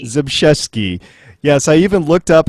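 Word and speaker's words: Zbyszewski: go okay and it was written by Paul jeski oh I I butchered that and I practiced before you did you did it oh well before we recorded zesi zesi yes I even looked up how to pronounce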